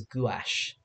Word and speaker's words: gouache: I pronounce it gouache, but my teacher says gouache.